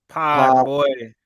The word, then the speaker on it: Podziemski: Nah, let me pronounce his name right. Give me Brandin Podziemski.